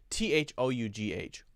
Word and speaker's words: though: Think about, for example, T-H-O-U-G-H. O-U-G-H. How do you say it? Though. Okay. Right? How about T-O-U-G-H? Is that pronounced toe?